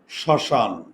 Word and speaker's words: শ্মশান: দেখোতো শ্মশান। পরীক্ষায় যদি তোমাকে প্রশ্ন করে যে শ্মশান শব্দের উচ্চারণটা লিখো। তাহলে দেখোতো এখানে একটা মফল আছে। শব্দের প্রথমে যদি মফলা থাকে ম এর উচ্চারণ হবে না।